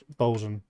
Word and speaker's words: boatswain: Well, it sounds like boatswain, right? Oh, bosun. Wow. Bosun. That's how you say it.